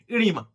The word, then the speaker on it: oedema: से निकला है एडिमा डिमा ओ इसमें क्या होता है साइलेंट होता है इसलिए इसको डायरेक्ट क्या बोलते हैं इडी मा ठीक है तो द